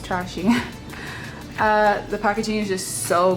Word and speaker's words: Très She: packaging for trash a trashy sorry it's actually pronounced trashing the packaging is just